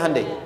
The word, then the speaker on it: Hyundai: Hyundai kan dibacanya Hyundai, kan?